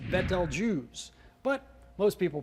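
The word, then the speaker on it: Betelgeuse: armpit of the central one and is correctly pronounced betal juice but most people pronounce it Beetle Juice so they can remember it because if you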